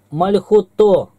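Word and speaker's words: מלכותו: Мальхуто, царствие его, ударение на О. Ты поставила ударение на гласную У.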